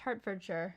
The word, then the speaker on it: Hertfordshire: Which we found out is pronounced Hertfordshire. Shout out to Zach Cohn for correcting us on that.